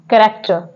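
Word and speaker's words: character: word है यहां पे कैरेक्टर कैरेक्टर में जो एच है वो यहां पर साइलेंट है जो सी के बाद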